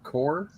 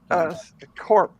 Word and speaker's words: Corp: Hero Core? No. No, Corp. It's Corp. No, Eric. C-O-R-P.